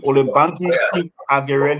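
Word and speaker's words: Olubanke King-Akerele: I think you guys know how to pronounce her name. Can somebody help me? The former foreign minister. King Akerele. Olubanki King Akerele.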